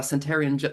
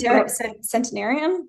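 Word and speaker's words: centenarian: Did you have any Did you get any words of advice from this uh centarian centarian gentleman? C Yeah. Cent centinarian.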